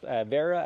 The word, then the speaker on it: Wera: German made uh so they're pronounced Vera I believe Wagner Vagner let's go with Vera and Beyond just the